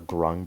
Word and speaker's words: Grung: ends no no no it ends with a g instead of a k yes rhyme with grunge thanks i hate it